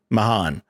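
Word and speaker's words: Mahaan: how do you say his last name again mahan mahan who was a part of oh gosh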